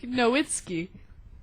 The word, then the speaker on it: Nowitzki: Dirk Nowitzki. That's how you say his name, right? Nicely done.